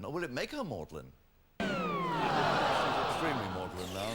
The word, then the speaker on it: Magdalene: It's pronounced Mlin, of course.